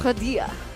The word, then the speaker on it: Kadia: So apparently it's Kadia. Kadia. Kadia. Kadia. Is it Did I get it Kadia right? or Kadia? Kadia. Kadia. Like with a K.